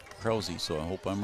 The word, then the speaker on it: Krause: And his first pitch is called a ball, and that is to Grant Krause. I was told to pronounce it Krause, so I hope I'm right.